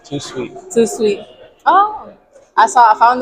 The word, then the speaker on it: Tout Suite: How do you say it? Tout Suite. Too sweet.